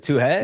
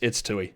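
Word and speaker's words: Toohey: I've been saying Tui. Is it Tuhe? No. It's Tui.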